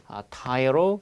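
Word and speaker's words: tyro: 그러면 최소한 얘를 또 CF로 정리하시되 타이어로 발음 잘하세요. 타이어로 T로가 아닙니다. T로 하면 아무도 못 알아듣습니다.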